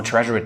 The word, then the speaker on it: Tresor: Well, let me pronounce it the German way because, well, I'm German. It's called Tresor.